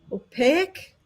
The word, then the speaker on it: opaque: Opaque. Opaque. Is that Is that the right word? Opaque. Opaque. No. Opaque. Not opaque. Opaque. You're adding a syllable. It's just opaque.